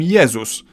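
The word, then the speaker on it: Jezus: world's favorite religious figure Jesus in Polish we call him yeus but if we were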